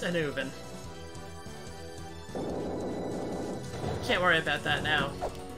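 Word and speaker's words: Annwn: It's pronounced Anuvin, if you're wondering. I looked it up. Yeah, the one at the top marked Ice Fire Treetop. It's pronounced Anuvin.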